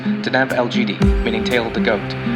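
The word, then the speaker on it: Deneb Algedi: The brightest star in the fairly dim constellation Capricornus is pronounced Deneb Elgidi, meaning tail of the goat.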